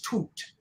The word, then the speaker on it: Tut: Tut Tut Tut and it's not tight it's toot toot is how you pronounce it so I'm sorry to